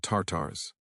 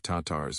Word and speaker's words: Tatars: They're called Tartars, a deliberate mispronunciation of Tatars mixed with Tartarus, the Greek hell.